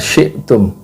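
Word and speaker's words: شئتم: I'malu ma syi'tum, bukan syi' tapi syi'tum ya, pakai hamzah mati kayak gitu.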